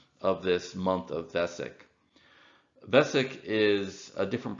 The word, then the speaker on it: Vesak: in terms of the modern solar calendar the Vesak festival falls in May or June but the